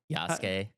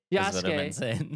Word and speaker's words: Yasuke: Like it wouldn't make sense to have 2 characters and you just always play as Naoe and just like Yasuke doesn't matter.